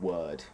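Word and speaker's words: Wyrd: It's called Web of Word is how you say it, but it's spelled weird. Y, uh, W Y R D.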